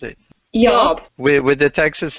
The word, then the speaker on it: YAWP: Yeah, I guess it's kind of like y'all, but with a P at the end instead of an L. Okay. Thank you, YAWP.